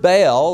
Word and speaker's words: Baal: Tyre, and through her influence, the worship of Baal Melquart, who was the official nature god of Tyre, was being actively brought into the kingdom. Now, the word Baal, or Baal as it's pronounced, means master or possessor or husband.